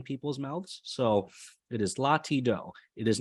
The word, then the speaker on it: Latido: So it's Latido, LA space TI space DO, Latido. For the musically inclined people, that is part of the solfege syllables. So do, re, mi, fa, sol, la, ti, do. It is not la, ti, da.